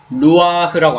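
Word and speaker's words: רוח: 그런 가운데 이제 하나님의 신, 여기서 하나님의 신은 히브리어로는 루아흐라고 합니다. 뭐라고 한다고요? 루아흐. 루아흐. 루아흐라고 읽는데 이 신은 이제 영이라고 합니다.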